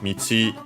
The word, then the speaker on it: 道: Yes, yeah, unsurprisingly, because Michi is the strictly Japanese pronunciation of the kanji, which has the Chinese pronunciation do, and yeah, it's used in that Chinese compound.